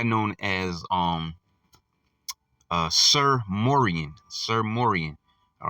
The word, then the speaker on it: Morien: not not all of them his name was Moran uh I believe it was m o r i n is how you spell that sir which is also believed to be